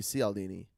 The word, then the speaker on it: Cialdini: It would be Cialdini. Soft C.